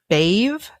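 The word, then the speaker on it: Badb: Um, so if she is portrayed as the three goddesses, she's Anu, Maka, and Bave spelled B A DB.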